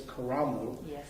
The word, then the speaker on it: Karamu: course coming here they changed the title to carol house which i understand the actual pronunciation is caramel and and uh it means a place in